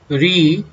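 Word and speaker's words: ऋ: भी कहते हैं और री भी कहते हैं. एक्चुअली इसका प्रोनाउंसिएशन री है और ली है, बट यहाँ पे महाराष्ट्र में और गुजरात में इसको रू भी प्रोनाउंस करते हैं.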